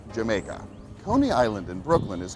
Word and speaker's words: Jamaica: The Dutch pronounced the letter J as a Y, so when the English saw the word spelt with a J, they assumed it was pronounced Jamaica.